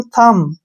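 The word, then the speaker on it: thumb: बी आ गया तो बी जो है साइलेंट रहेगा बी का उच्चारण हम नहीं करेंगे इसको पढ़ेंगे हम थम थम नहीं थम ठीक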